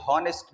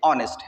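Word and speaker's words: honest: जिस तरह ये वर्ड है, यहाँ स्टार्ट में वॉवेल नहीं है लेकिन इसकी प्रोनाउंसिएशन अगर आप देख ले तो ये हॉनेस्ट नहीं है, ये ऑनेस्ट है।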